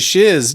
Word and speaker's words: Shiz: Like, okay, I have to assume that the reason it was called Shiz is because the guy who wrote the music wanted it to rhyme with whiz.